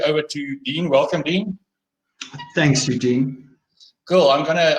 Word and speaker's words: Dene: elephant in the room my name is Dean it is not Danae or or muff Roberta which I get often it's spelled de but